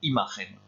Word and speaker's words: imagen: ¿Qué impresión nos da esta imagen? ¿Por qué? Attention, il y a deux questions. Quelle impression nous donne cette image? Pourquoi? On prononce bien le N de imagen, ça c'est le verbe donner.